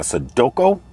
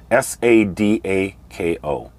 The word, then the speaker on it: Sadako: and it's called a this is where my pronunciations probably are going to mess up a Sudoko a Sudoku s-a-d-a-k-o Sadako it is a horrific